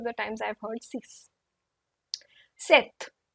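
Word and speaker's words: sept: times I've heard CE set set p is silent this p is silent set we or with both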